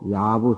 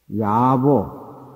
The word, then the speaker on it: 야보: 야보, 여시여. 야부라고 읽으면 안 되고, 야보라고 읽어야 돼요. 응? 야보. 부친이라고 할 때는 부자 발음이 나지만, 사람의 이름에 해당이 될 때는 부자가 보로 해당해요.